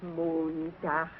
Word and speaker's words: Montag: Sonntag, Montag, Dienstag, Mittwoch. That is good, but pronounce the words broader, so Sonntag, Montag, Dienstag, yes?